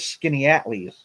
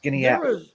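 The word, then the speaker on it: Skaneateles: it right now, but the pronunciation is Skinnyatles. But it doesn't look that way when it's spelled out. But that's how it's pronounced. Skinnyatles.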